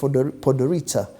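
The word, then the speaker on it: Podgorica: with its beautiful touristic city called podorita It's pronounced as podorita it has only 250 000 people the city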